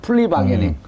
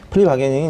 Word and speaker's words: 플리바게닝: 그래서 좀 플리바게닝. 예. 아무튼 이제 그 기소적 독점주의를 채택하고 있는 이제 우리나라 법제도 하에서 이 플리바게닝이 이제 공식적으로 채택되지는 않았는데요.